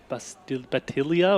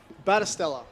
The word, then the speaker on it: Battistella: Is that DJ Batilia or whatever? However we say that. Number 15, Yeah. DJ Battistella. Let's go with Battistella. Yeah. That's the correct pronunciation.